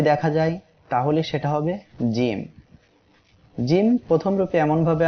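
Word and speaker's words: ج: জিম অক্ষরে মোট 3 আলিফ টান হবে। সবাই আমার সাথে উচ্চারণ করেন, জিম। এই অক্ষরটি জিহ্বার মাঝখান তার বরাবর উপরে এই তালুর সঙ্গে লাগিয়ে উচ্চারিত হবে।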